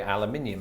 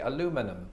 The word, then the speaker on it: aluminium: of the pond right americans say i think it's weird that british people say aluminium and british people say i think it's weird that americans say aluminum and so who wins